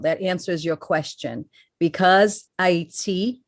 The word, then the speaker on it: Ayiti: Because Ayiti, they changed the name to Haiti for a reason, but it's pronounced Ayiti.